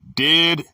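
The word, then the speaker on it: διδάσκω: The word is didasko, pronounced didasko.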